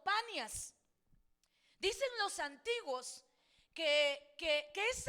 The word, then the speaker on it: Panias: La ciudad de Cesarea de Filipo antiguamente fue llamada Neronis o Banias, pero como los oriundios de ese lugar no podían pronunciar la palabra B, entonces le dejaron como Panias.